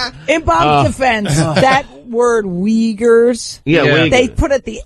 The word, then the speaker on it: Uyghurs: In Bob's defense, that word Uyghurs, Yeah. they put at the end of the thing how to pronounce it. Yeah. Instead at the beginning. I thought it was Wiggers.